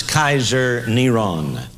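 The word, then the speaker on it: קיסר נרון: His name was pronounced as Kaiser Neron.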